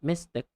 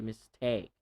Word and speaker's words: mistake: of mystic okay so not mystic mystic this dress right there I capitalized the second syllable take because you don't really say the stress is not on the first syllable it's not a mistake well you should say mistake it's my mistake I